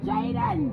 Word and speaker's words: Jaden: uh not me guys you been saying name wrong it's Jaden Jen Jaden no you